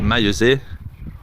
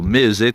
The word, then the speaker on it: Maillezais: Estamos en la abadía de Maillezais, o Maillezais como lo pronuncian aquí en Poitou.